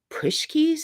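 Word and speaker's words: pączki: say this horribly wrong push Keys is how they say it in Pittsburgh um it's polish pastry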